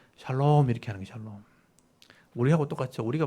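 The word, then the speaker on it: שלום: 평강 평화라는 단위 평강이란다는데 샬롬이죠 여러분 잘 아시는 단어입니다 지난주에 제가 못 보여드렸는데 오늘은 제가 보여드릴게요 샤론 샤론이라고 되어 있는데 강하게 바라보면 샬롬이죠 샬롬 정확하게 발음하면 그냥 사가 아니고 오가 붙어 있는게 샬롬이에요 이런 발음이 잘 안 되죠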